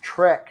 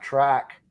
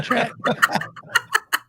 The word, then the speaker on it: Trek: Kelly, it's pronounced Trek, not track. Yeah, Trek.